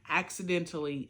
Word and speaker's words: Accidentally: And I'm reading Accidentally, because the way it's spelled is like axe, like, you know, an axe. Accidentally Married.